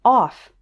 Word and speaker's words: cough: words enough tough rough there's one word where it's pronounced off and that is the word cough and finally it's pronounced